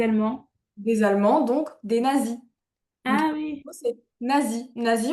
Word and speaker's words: Nazis: Des Allemands donc des nazis. Ah oui, c'est nazi. Nie en anglais, ça se dit Nazis. D'accord. C'estcrit pareil, c'est juste la prononciation qui est un petit peu différent.